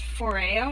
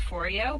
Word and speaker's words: Foreo: get a four yo it's pronounced for a oh not for you but I pronounce it like for you the entire time so just know that it did not actually rhyme with Oreo but I know he's